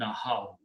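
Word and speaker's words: نَهَوْا: Huruf illat, they are sound, so we do not pronounce this ya, and the final word become nahaw.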